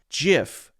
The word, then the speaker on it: GIF: I have always pronounced this as GIF, the soft G sound, also known as the J sound. GIF, GIF, GIF.